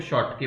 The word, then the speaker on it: Schottky: बेटा इसमें ये साइलेंट रहता है, इसको शॉर्टकी पढ़ता है ना, so that is शॉर्टकी defect and वन is Frenkel defect, and this is very very important.